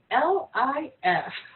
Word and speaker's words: Lipschitz: Did you know that Ralph Lauren's original name was Ralph Lipschitz? Okay. Let me spell that for you. Ralph Lauren. His original name was Ralph Lipschitz. It's Lifshitz.